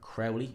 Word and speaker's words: Crowley: for boot Dennis versus Cody Crawley H Crowley is how you say that guy's name so we will be